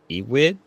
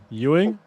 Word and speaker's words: Ewing: of it is um E-wig e-wig pronounc that right yeah al-wig Ewing. Ewing. Yu-wing. E with the wing at the end.